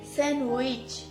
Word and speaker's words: sandwich: স্যান্ডউইচ। ডি কই গেল? ইংল্যান্ডে চলে গেছে। ইংল্যান্ডে চলে গেছে? হ্যাঁ। ডি তোমরা ইংল্যান্ডে নিয়ে গেছো। ভিউয়ার্সদের কথা, ডি নাকি ইংল্যান্ডে চলে গেছে, এজন্য স্যান্ডউইচ হয়ে গেছে কি উইচ। স্যান্ডউইচ।